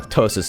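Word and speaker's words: ptosis: three surgeries for my tosis is what it's called PT o s i s the p is silent because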